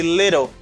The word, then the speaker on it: little: You say little. You can say little too. Little. Why do they say little and some people say little? It's because of the fast D.